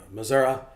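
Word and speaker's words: Missouri: what Texas Oklahoma and Missoura this is the proper way to say it by the way um all these tornadoes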